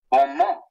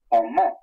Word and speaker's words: bon mot: Bon mot. You don't pronounce the final T. Sometimes in French that's how they speak, but that's the word for word. Bon mot.